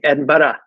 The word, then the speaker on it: Edinburgh: but I still thought you had to say the ugh. So the very first response that my parents gave me to my call was my dad saying Edinburgh. So I learned how to pronounce it.